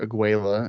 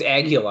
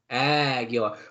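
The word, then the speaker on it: Águila: Not Juventud or Mr. Aguila, as you like to pronounce it. No, that's not what I meant. No, see, because you can bring them as the international part. Oh, okay. And it's Aguila, I remembered.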